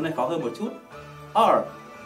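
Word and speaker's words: 二: R, R. Các bạn nhớ cong hết đầu lưỡi về phía sau.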